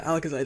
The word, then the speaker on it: Alakazite: cave we have ourselves the alakazite or yeah alakazite that's how it's pronounced it's get mega Alakazam so that's honestly